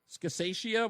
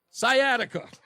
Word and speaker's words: sciatica: Is that how I pronounce that? Scassatia. What? I don't even know how to pronounce that. My wife's the medical person here. That word right there. Do you know what that is? Sciatica.